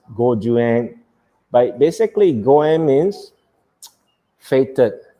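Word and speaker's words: 五十円: as goen, and then a 50 yen coin is pronounced as gojuan.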